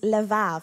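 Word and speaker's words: לב: in other scriptures is le vav it's spot a little bit different to how it's said lev and it means the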